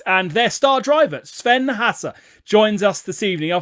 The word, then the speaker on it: Haase: it's all fine okay the s is a zed cool that's good because